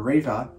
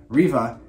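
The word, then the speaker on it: Reva: the force sensitive inquisitor rava i think that's how you say it reba r-e-v-a riva we will pry will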